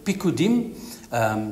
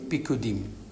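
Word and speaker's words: פקודים: Precepts is comes from the Hebrew word pikudim. You spell it P-I-Q-Q-U-D-I-M, pikudim.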